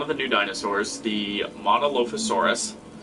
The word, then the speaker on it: Monolophosaurus: the new dinosaurs the monolofusaurus which i believe it must be pronounced as monolophosaurus i don't know it is pronounced monolophosaurus so monolophosaurus has um as